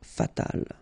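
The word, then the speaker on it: fatale: So general masculine, general feminina and then fatal feminine form you just add this final but then phonetically it's the same fatal.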